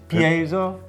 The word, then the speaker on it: piezo: all ironed out it's set up with a piezo pickup so you can get an acoustic sound actually the correct Italian pin it pronounced here's piezo we're Hillbillies out here the supplies I'll pick